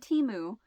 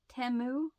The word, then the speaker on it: Temu: I was like huh I've been pronouncing it wrong this entire time it's not teu it's temu right is that what they said temu TAMU and I say I don't know I was just like huh I had no idea that it was pronounced TAMU and not timu I'll probably continue to